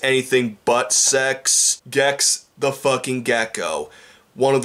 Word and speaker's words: Gex: I'm actually talking about Gex the Gecko. Three letters, one syllable, rhymes with sex, though it's anything but sex. Gex the fucking Gecko.